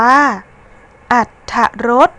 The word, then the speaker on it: อรรถรส: ท้าย คำ ที่ 10 อรรถรส อ่าน ว่า อรรถรส คำ ว่า อาจ มี พยัญชนะ ท้อ ถุง ตาม หลัง รอ หัน ซึ่ง พยัญชนะ ทอ ถุง เป็น พยัญชนะ ที่ อยู่ ใน มาตรา กด ดัง นั้น เวลา เรา อ่าน ออก เสียง คำ ว่า อาจ เรา จึง อ่าน ออก เสียง พยัญชนะ เพราะ อ่าน ประสม สระ อะ แล้ว ตาม ด้วย เสียง ตัว สะกด มาตรา กด นะ คะ ซึ่ง เวลา เขียน คำ